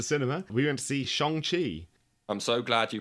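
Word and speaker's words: Shang-Chi: We went to see Shang Chi. I'm so glad you pronounced it correctly.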